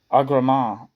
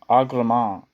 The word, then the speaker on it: Agramant: illusion is to arosto arama ex I said it wrong aan is how you actually say it commanded the army that